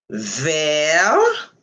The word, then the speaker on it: vert: Vert, le T, c'est silent. When vert is going to modify a noun that is feminine, you will add in E. That means you will say vert. The T will be pronounced, but the silent E won't be pronounced.